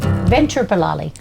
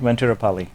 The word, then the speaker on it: Venuturupalli: So Ventura, like Ventura Boulevard, Venuturupalli. Venuturupalli. I've been saying it wrong for like 12 years. I mean, Venuturupalli. It's an Indian thing. So then there's an extra U just to throw everyone on.